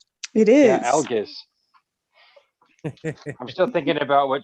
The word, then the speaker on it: Algiz: It's Algiz. I might be saying it wrong, but that's very similar to Sean's last name. It is. Yeah, Algiz.